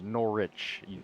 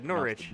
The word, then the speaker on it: Norwich: It's Norwich. Apparently it's Norwich. Yeah, Norwich. Yeah, there's no W.